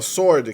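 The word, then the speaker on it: sword: duas sílabas certo pret a palavra Sordi quer espada é pronunciada como se o w eu não tivesse ali nosso ordem e sem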